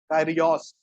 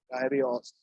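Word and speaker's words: κύριος: बताने के लिए, वो यूज किया गया है कायरियोस। कैसे लिखा गया है मैंने आपको दिखाया, क्या है, कायरियोस। ठीक है, इसकी इंग्लिश में स्पेलिंग भी नोट कर जाते तो लिख लो, K/RIOS। KYRIOS, कायरियोस।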